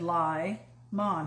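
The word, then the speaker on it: Limon: mom colorado le mans he said lie mon he actually put it in quotes for me to pronounce it correctly so he looks like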